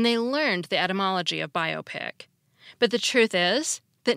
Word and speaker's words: biopic: using the compound stress rule the word is pronounced biopic not biopic still in all the misel biopic